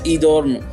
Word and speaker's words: Edom: The name Edom is pronounced as Edorm, which means my kind of person.